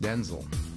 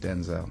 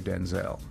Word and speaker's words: Denzel: known as Denzel Washington my name is actually pronounced Denzel oh it's not even pronounced Denzel it's pronounced Denzel I'm Denzel Hayes Washington